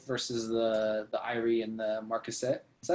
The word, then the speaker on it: Marquisate: smaller time folk versus the Irie and the Marquisate. Is that how you say that? Marquisate? That is reasonably, yes, pronounced.